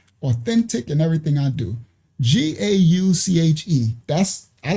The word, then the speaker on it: gauche: They got the gouch. Pronounced gauche.